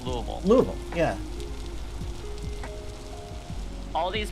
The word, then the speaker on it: Louisville: if you're from out of state you might pronounce it as um lewisville louisville or louis louisville is the other one louisville and if you're local it's louisville louisville yeah all these pronunciations are correct but the